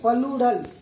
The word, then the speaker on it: plural: एक होता है सिंगुलर, दूसरा होता है प्लूरल, प्लूरल नहीं प्लूरल, PLURAL।